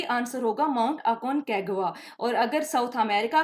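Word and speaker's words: Aconcagua: इसकी प्रोनाउंसिएशन है अकोनकागुआ, यानी माउंट अकोनकागुआ।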